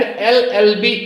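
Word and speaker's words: LLB: L consonant है लेकिन जब हम प्रोनंसिएशन करते हैं तो यहां क्या है यहां पे है ए तो Govind is एन एलएलबी student Govind is एन एलएलबी student तो यहां पे प्रोनंसिएशन करते हुए जब हम एल बोल रहे हैं तो इसका पहले पहले जो लेटर का प्रोनंसिएशन आ रहा है वो वावेल साउंड से शुरू हो रहा है इसलिए एलएलबी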